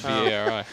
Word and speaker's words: Bari: She pronounces it Barry, but it's B-A-R-I. Bari.